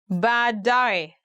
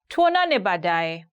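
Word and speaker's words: baadaye: going to look at 10 hardest ones to pronounce in Swahili bad die later die for example you can say badai see you later now actually I can understand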